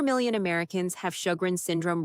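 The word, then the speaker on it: Sjögren's: Sjogren's, pronounced show-grins, is an autoimmune condition.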